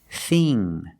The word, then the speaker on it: thing: is this is Finn but with Ing and ink we use the long e sound like green beans thing and think use the